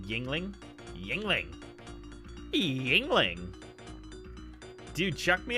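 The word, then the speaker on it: Yuengling: Yungling is pronounced yingling.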